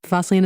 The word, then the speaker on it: Fosslien: Fosian, right? Fosian. Yes. Fossilian is how you say it.